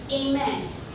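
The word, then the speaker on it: Hermès: So this one is held by...In French, it's pronounced Aimes. So Aimes is nowadays a very famous brand for luxury stuff, for bags.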